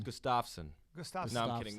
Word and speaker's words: Gustafsson: It's Gustafsson.